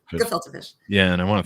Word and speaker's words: gefilte: It's just a hard G. Gefilte fish.